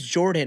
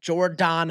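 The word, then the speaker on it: Jordon: It is J O R D O N Hudson. Jordan Hudson like Gordon.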